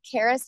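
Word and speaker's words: Charis: special needs children called Caris Hills is the camp that my family is uh running now and that's spelled c h a r i s Hills Caris Hills it means Grace in Greek and that offered me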